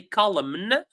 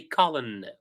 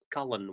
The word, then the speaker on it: colon: what we call a colon and by the way for the pronunciation pay attention that we don't pronounce the M we don't say colum we say colon colon without pronouncing DM uh